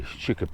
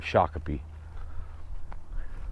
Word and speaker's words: Shakopee: going to find right people can't pronounce Shiki they always say Shiki instead of shaki it's like uh people